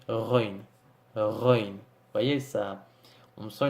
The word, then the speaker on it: غين: cas et la lettre run qui s'écrit g h mais qui se prononce entre guillemets comme notre ère français mais de façon plus prononcée et si vous voyez